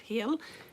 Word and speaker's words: Heel: If you didn't know, Maria Lind Heel has, it's spelled actually H-E-E-L like heel, but she's from Denmark.